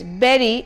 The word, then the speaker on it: bury: The next word here I have is BURY, and the right pronunciation is berry as in BERRY and not bury or bury.